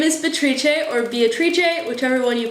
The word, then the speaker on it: Beatrice: One of the most satisfying things about studying in Spain has been that professors almost always default to saying my name Beatrice instead of Beatrice, and it makes my